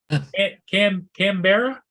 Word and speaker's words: Canberra: yeah four air crew Canberra I just came Brown is how you would pronounce it properly it's the capital of Australia wow so I got